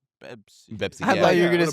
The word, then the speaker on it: Pepsi: They don't say, and they don't use the P sound, so they say Bebsi. Pepsi.